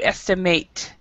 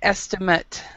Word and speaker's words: estimate: If it's as a verb, if it's a verb, the pronunciation is to estimate. But if it's a subject, it's an estimate. Just a FYI for your information, the pronunciation is different.